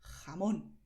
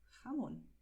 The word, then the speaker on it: jamón: Y la palabra jamón se puede pronunciar así, jamón, que es como normalmente en España la gente pronuncia. Y la otra manera de pronunciar, como ya sabes, es más suave, jamón, ¿vale? Pero importante es que destaques la letra O.